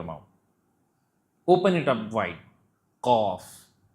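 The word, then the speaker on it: ق: See, when you pronounce a heavy letter, you should not circle your mouth. Cough. Don't say. Instead, open up your mouth. Cough. Cough. Every heavy letter whenever you pronounce them, pronounce them with an open mouth. Full mouth. Cough. But not with a round mouth.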